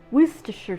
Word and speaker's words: Worcestershire: then a teaspoon and a half of worcester worcestershire sauce i'll say it properly i'm going to